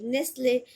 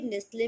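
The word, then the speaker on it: Nestlé: एंड द नेक्स्ट word is NESTLE, नेस्ले।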